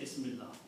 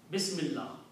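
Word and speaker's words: بسم الله: They just, wherever there were two words together, instead of pronouncing Ismun Allahu, okay, say Ismillah. Okay, and they said even stop at the last letter. So don't even say Allahu, just say Ismillah.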